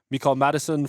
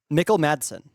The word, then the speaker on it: Mikkel Madsen: Next, Mikael Madison from Dayton. Mikkel Madsen. Mikkel Madsen. We need a pronounce sheet.